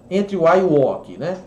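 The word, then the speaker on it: enough: tal é a palavra inar ó olha a pronúncia totalmente diferente né do da escrita e na né E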